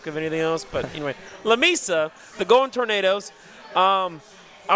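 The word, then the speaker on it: Lamesa: Lameisa, La Mesa, Lameisa, Lameisa, Lameisa. I butchered this so many times and I you know, I talked with y'all prior.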